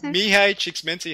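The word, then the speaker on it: Csikszentmihalyi: I'm so good could you say it again me hi cheeks minty hey you've practiced that I know I have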